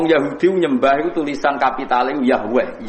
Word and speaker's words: Yahweh: Wong Yahudi nyembah itu tulisan kapital Yahweh, Z dengan huruf kapital, A dengan huruf kapital,